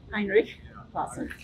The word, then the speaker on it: Heinrich: just Heinrich Heinrich yeah Heinrich a man with a silent h in his first name okay yeah just says